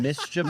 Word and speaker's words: mischievous: a seven syllable word it's three three syllable mischevous we just we just